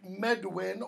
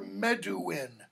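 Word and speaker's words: Medwyn: And we meet a guy named Medwin or Meduin. Depends on how you want to pronounce the W's. In Welsh, the W is sometimes pronounced like a wa, sometimes it's pronounced oo.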